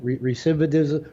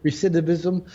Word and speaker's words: recidivism: everything's been done and there's a term for it that i always mispronounce but is like recivitism recidivism um and and and